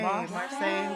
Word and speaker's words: Marsai: and issa rae shout out to marseille hey marseille okay and that is how you say it